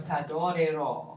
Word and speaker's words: t'adorerò: Yeah, so the stress is on ro, so t'adorerò.